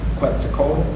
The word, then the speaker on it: Quetzalcoatl: And what you had talked about was the Christ figure, Quetzalcoatl. Am I pronouncing that right?